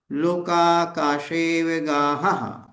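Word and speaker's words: लोकाकाशेऽवगाहः: यहाँ पर जो आ है, आ साइलेंट रखेंगे। जो एस बना है ये खंडाकार चिन्ह कहलाता है, इसको अवग्रह का चिन्ह बोलते हैं। इसका मतलब है कि वहां पर आ का उच्चारण नहीं करना है।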